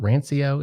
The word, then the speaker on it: rancio: and i get some is it is it rancio is that what is that the pronunciation it is right yeah yeah yeah you